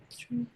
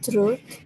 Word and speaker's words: through: Jadi ini GH-nya silence ya, atau alias nggak dibaca. Silent GH. Ya. True. I create a coding through applications. GH-nya nggak dibaca. True. Ya. I create coding GH-nya nggak dibaca, jadi apa bacanya? True. Ya, true. Ya, walaupun di sini ada tulisannya nanti. Kalau penulisannya ini ada GH-nya, tapi saat dibaca itu hilang ya.